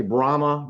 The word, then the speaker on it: Brahma: say the second one the easy one is bremer now a lot of people say brahma bremer same thing b-r-a-h-m-a brahma did i spell that correctly so that's the easy one and